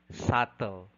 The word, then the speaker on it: subtle: the the phony peter is island climb calm subtle death lamb item number 44 which is true